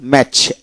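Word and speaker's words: match: টি সিএচ এতে চ এর মত উচ্চারিত হয়। লক্ষ্য করুন বি এটি সিচ ব্যাচ ব্যাচ বিটি সিএস ব্যাচ। তারপর হল ম্যাচ এম এটি সিচ ম্যাচ অর্থাৎ এম এ সিচ ম্যাচ ম্যাচ।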